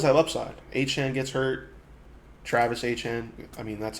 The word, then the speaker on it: Etienne: Travis Etienne. I mean, that's how he wants to pronounce now.